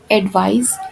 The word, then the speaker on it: advise: जो second one है एडवाइस, इसमें ज की साउंड आती है पीछे और इसके स्पेलिंग्स में ADVISE आता है और ये एक वर्ब के जैसे यूज़ होता है।